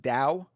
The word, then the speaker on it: Tao: Well, actually, no, not always that because I was going to say that the the Dao, like when you see Tao, it's pronounced Dao.